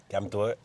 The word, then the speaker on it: calme-toi: deuxième, c'est Kametoe. Calme-toi. Puis c'est écrit Kaim, C-A-M-M-E, espace, Toe, T-O-E, accent par là. Accent aigu.